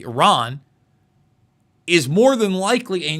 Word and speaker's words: Iran: Iran, I should pronounce it correctly, Iran, is more than likely a nuclear nation, but has a first world military anyway.